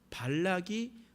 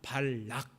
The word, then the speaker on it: 발락: 그런데 그곳에 있었던 모압 왕 발락이 마음이 두려움에 들게 되었습니다. 두려움이 들었어요. 그래서 어떤 일들을 하게 되냐? 발람을 불렀습니다. 여러분 발음을 한번 해봅시다. 모압 왕 발락 따라해 봅시다. 모압 왕 발락 락입니다.